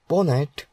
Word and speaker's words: pwnat: PWN pronounced as PONET is a tool that